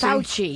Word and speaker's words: Fauci: Anthony Fauci? Fauci, yeah.